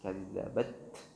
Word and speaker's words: كذبت: Jadi cara pengucapan yang benar, tahan dulu suaranya baru kemudian alirkan nafas. Kazzabat, kazzabat.